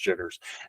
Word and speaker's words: JTRS: JTRS is how it's pronounced, jitters.